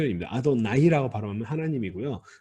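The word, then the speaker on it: אֲדֹנָי: 번역을 하니까 이건 좀 하나님의 뜻은 표 이미 아도나이 라고 발언한 아님 이구요 아 돈 이라고 발음하면 나중에 카매트 가 아니라 히 대기 나온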